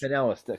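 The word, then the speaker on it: Kanellis: Maria Canelia? Canellis.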